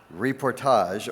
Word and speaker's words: reportage: Next up is Reportage, correct pronunciation. Reportage, or photojournalism.